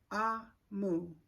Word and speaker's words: Omu: first page and it says um pronounced ah Moo it's also the egg boo turn for Queen so mo means Queen